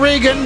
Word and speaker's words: Reagan: It's Reagan. Ronald Reagan, my Ronald friend. Reagan. Earl pronunciation.